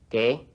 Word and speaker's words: qué: The Q in Spanish is always followed by a U when written, but this U is never pronounced. Repeat. ¿Qué?